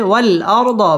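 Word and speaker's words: وَالْأَرْضَ: والأرض بعد ذلك دحاها ওয়াও ঠোঁট গোল করে উচ্চারণ করব ওয়াল আর র পুর হবে ওয়াল আরদ বা'দা দা মধ্যে তবাই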